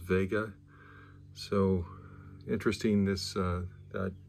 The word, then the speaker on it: Wega: it's we GA and in German I believe that's pronounced Vega so interesting this uh